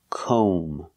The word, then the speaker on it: comb: like no and go we pronounce this word com o make the long o sound com and remember the B is silent don't pronounce the B comb so comb is